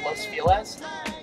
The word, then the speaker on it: Los Feliz: It's actually pronounced Los Feliz.